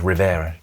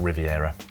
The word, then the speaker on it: Rivera: Just before you get into trouble in the comments, I think that was Rivera, not Riviera.